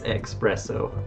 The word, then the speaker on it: Expresso: guys rambi express it is expresso i said it wrong the whole game nintei